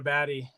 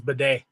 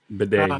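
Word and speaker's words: Badie: there and readded Tyler Baddy um or not bad or they the way he pronounces is Bedet. Bedet.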